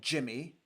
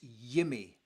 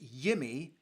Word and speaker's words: Jimmy: It is not Jimmy, it is Yimmy. So his name is pronounced Yimmy Talene.